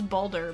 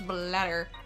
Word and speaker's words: Bladder: Yeah, I thought it was Balder, but no, it's Bladder.